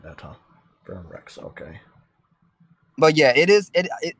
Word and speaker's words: Verum Rex: Verum X Kingdom Hearts 3.